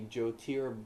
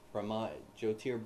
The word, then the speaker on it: Jyotir: Now, official Sanskrit, it should be Jyotir Brahma. Jyotir Brahma. But because this is Odia, it's Jyoti Brahma. There's no R.